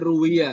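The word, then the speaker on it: رُوِيَ: Kalau ada an bacanya ruwiya. Kalau ada nggak ada an rawa.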